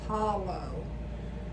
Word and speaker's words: Paulo: Paulo okay Paul p a u l with an O on it Paulo okay I have a speech problem so sometimes I may not say that as clearly as what it's supposed to be pronounced but it's Paulo all right so the reason